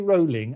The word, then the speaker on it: Rowling: said is, don't apologise to me, J.K. Rowling, as in bowling, that's how you pronounce the name, but don't apologise to me, apologise to the women.